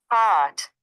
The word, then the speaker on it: caught: بص، Caught. قات اه قات اه بس مش كات.